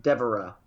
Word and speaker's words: Devara: No, Devara. Devara. Think of Deborah.